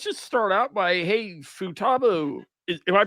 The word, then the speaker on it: Futaba: Um, actually, let's just start out by Hey, Futaba. Is am I pronouncing that right? I have no idea anything about No, you're pronouncing it. You're pronouncing it correct. It's Futaba.